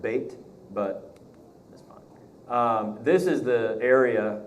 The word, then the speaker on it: Beth: picture of Beth Shemesh Beth wood it would be pronounced bate but this is the